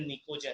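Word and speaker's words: pnictogen: उसी तरह group 15 element नाइट्रोजन family को हम लोग बोलते हैं निकोजन। पी इज the silent word, निकोजन बोलते हैं इसको।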